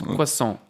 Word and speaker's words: croissant: Apparently, when you say croissant, you don't say the T. So it's croissant. Croissant. It's not croissant.